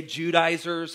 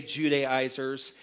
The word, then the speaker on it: Judaizers: Judaizers, you might want to say Judaizers. I've heard it pronounced a couple different ways. I say Judaizers, had moved into these